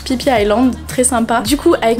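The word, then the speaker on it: Phi Phi Island: nom est super visage pensé que ça se prononce et fifille langues mais non ça se prononce pipia landes très sympa du coup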